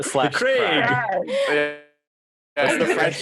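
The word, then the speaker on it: The Crag: The Craig. Correct. Say it like that. The Craig / Craig. Crag. What's the French pronunciation?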